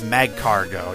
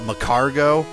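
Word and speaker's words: Magcargo: start off with my i think it's mag cargo yeah mad cargo i used to always call it macargo which it could be the way we pronounce it but i seriously doubt it but it's a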